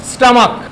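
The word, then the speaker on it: stomach: ध्यान रखना है कि परंतु कुछ नाउन्स जिनका अंत सी एच से हो, अंत क्या है? लास्ट में क्या आता है? सी एच, लेकिन उसका उच्चारण कैसे हो? क या के की तरह हो, तो अंत में केवल एस जोड़कर प्लूरल बनाया जाता है। जैसे स्टमक, तो यहाँ क्या होगा? सिर्फ एस लगेगा, स्टमक्स।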